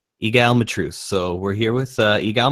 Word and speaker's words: Egal Matreaux: I'm here with, how do you pronounce that name? Egal Matreaux. Egal Matreaux.